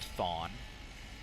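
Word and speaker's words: Chthon: h o n spell spell it so it's pronounced thawn um and then there is a sequel to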